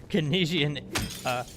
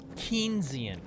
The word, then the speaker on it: Keynesian: Canesian, sorry. Only you know how to pronounce that correctly.